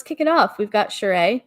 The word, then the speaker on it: Sheree: but whatever let's kick it off we've got sheree not cherie spelled the same different different tv show different pronunciation being on her podca on her daughter's